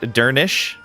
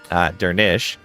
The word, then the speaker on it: Durnisk: Durnisk is pronounced Durnish. Durnish. Right, the SC. Since the final SC cluster sounds like an SH sound.